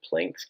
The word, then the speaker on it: Planck: this is known as Planck's constant named after dude named Max Max Planck sometimes pronounced plunk I helped discover these